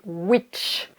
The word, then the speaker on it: which: pas confondre avec wish donc là ça se prononce wish quand on espère quelque chose et là c'est which donc finalement c'est un peu comme s'il y